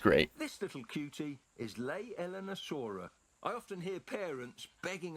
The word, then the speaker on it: Leaellynasaura: Was I pronouncing it leaellynasaurus? I hope I wasn't. It's leaellynasaura. I hope I wasn't pronouncing it incorrectly.